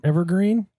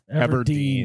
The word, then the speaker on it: Everdeen: You could be Katniss Everdeen. I'll let Ever- Evergreen? It's Katniss Evergreen? I feel like Mark Zuckerberg should volunteer. Hunger Games? Katniss Evergreen? It's Katniss Everdeen. Everdeen.